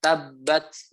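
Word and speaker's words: تبت: kedua berharokat seperti itu digabung jadinya ada tanda tasjid maka bacanya ditekan Jadinya kalau dibaca tadi Misalkan contoh di surat al-lahab bacanya tablet gitu ya tabrak aja itunya begitu ya kalau Sania jaring ke orang-orang ketika ketemu tanda tas ditabrak fine itu ya tabbat Yada seperti itu contohnya begitu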